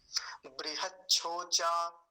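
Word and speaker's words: बृहच्छोचा: फिर से देख लीजिए, बृहच, बृहच, क्योंकि च आधा है वहीं रुकेंगे। बृहच छोचा, छो चा, ऐसा, बृहत छोचा।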